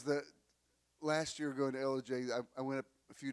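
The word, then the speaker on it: Ellijay: She said, "Elijah, Georgia." I said, "This is LJ."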